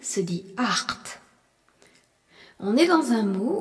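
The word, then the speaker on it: acht: Et en à la fin qu'on retrouve souvent à la fin des verbes et qui se prononce un. Le nombre 8 se dit art.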